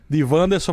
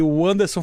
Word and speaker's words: Wanderson: Chama-se de, então muita gente chama de Vanderson, mas a pronúncia correta, né, familiarmente, né, intitulada é de Anderson.